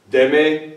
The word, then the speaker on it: deme: Deme la botella. There's no accent there, it's only two syllables.